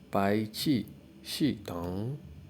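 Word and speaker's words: 排气系统: Now the car exhaust system is pronounced as bai qi shi dong, bai qi shi dong, bai qi shi dong.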